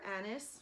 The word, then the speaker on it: anise: digize is tarragon juniper annis or anise that's how you say it ginger fennel patchouli